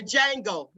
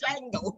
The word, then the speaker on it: Django: You told me, look, like the Django. Rugal say the D is silent. The Django.